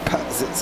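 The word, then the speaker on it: Pazsitzky: No, that's how you pronounce it. The actual spelling is the actual spelling is P-A-Z-S-I-T-Z-K-Y. Okay. So that's why there is 2 Z's in her name. It's just apparently not pronounced as both.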